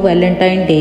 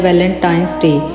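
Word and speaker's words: Valentine's Day: अब आप वैलेंटाइन डे के नाम पर गौर करें तो इसे जो आम कहा जाता है वो वैलेंटाइन डे है, लेकिन हकीकत में जो इसका जो प्रोनाउंसिएशन है वो है वैलेंटाइंस डे, यानी वैलेंटाइन वाला दिन।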